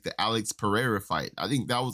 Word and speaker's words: Pereira: So Alex Pereira, I have to say it like a Brazilian dude. It sounds based. So Alex Pereira is the only person